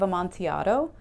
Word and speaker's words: Amontillado: I always want to pronounce it The Cask of Amontillado because I see the